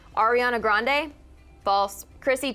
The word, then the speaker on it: Grande: last name and she said she would keep Grande to remember her grandfather but she pronounced it grandiy and in the midst of everyone freaking out